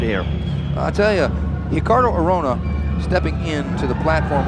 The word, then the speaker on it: Ricardo: He is Ricardo Arona, and it's actually spelled Ricardo, but the Brazilians pronounce that R with an H sound.